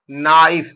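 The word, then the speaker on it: knife: एन आई एफ ई नाइफ नाइफ माने चाकू यहां पर क्या के साइलेंट हो गया तो एन ओ डब्लू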